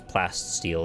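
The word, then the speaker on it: plasteel: You've been pronouncing oh, yeah, it's plast steel, isn't it? I wanted to add the extra plasta because it just felt right on my tongue. But I guess it's not physically there.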